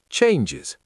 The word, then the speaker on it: changes: When the last sound of a noun is s, sh, or j, we add an extra syllable is to make it plural. The noun change ends in the j sound, so change becomes changes.